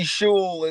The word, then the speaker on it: Schul: Schul is not that fucking hard. Like mispronounced school, motherfucker.